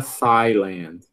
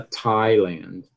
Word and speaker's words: Thailand: A gente não pronuncia Thailand, a gente pronuncia Thailand. E por que a gente pronuncia desse jeito? Porque é assim, porque o falante nativo fala desse jeito.